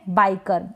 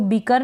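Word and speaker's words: biker: और flower next है बाइकर इसको बीकर ना पड़े बाइकर यहां पर भी ये जो आई है इसको हम आई प्रोनाउंस कर रहे हैं आई का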